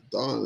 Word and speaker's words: Dan: oh looks like yeah dawn that's how we pronounce it so we've been saying dan like an american uh accent and it's i guess it's dawn see how they see